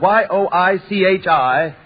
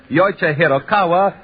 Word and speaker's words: Yoichi Hiraoka: Well, one of the names in the tests was spelled Yoichi Hiraoka. It was spelled Yoichi-Hiraoka. Well, it was pronounced by many taking that announcer's test as Yoichi Hirokawa or Yoichi Hiroike, and a great many other variations, all of